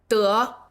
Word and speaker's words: 得: 在生活里面没有什么问题但是如果你要考试 However, if you're taking an exam, 后面这两个词就要注意是dì和dé pay attention to the last two words, 'dì' and 'dé'.